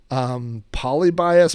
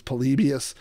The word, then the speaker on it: Polybius: I used to say polybias, but I guess it's polybius.